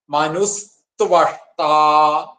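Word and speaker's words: മനുസ്ത്വഷ്ടാ: മനു എന്നുള്ള വിസർഗം ഉണ്ടല്ലോ, അത് സകാരായി മാറിയിട്ട് മനുസ്ത്വ. ത്വഷ്ട എന്നാണ്. അതിന്റെ കൂടെ സ് എന്നുള്ളതും കൂടി കൊടുക്കും. മനുസ്ത്വഷ്ട.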